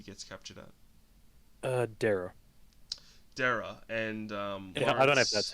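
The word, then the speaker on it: Daraa: to that he gets captured at uh dara dara and um that's how you pronounce it and uh basically what was their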